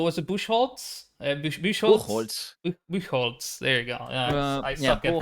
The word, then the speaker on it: Buchholz: Buchholz. There you go. I Yeah, suck at Buchholz. I think that might pronunciations.